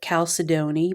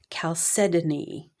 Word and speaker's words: Chalcedony: Now, I used to call it Chalcedony, but I looked up the proper way to pronounce this, and it's blue Chalcedony.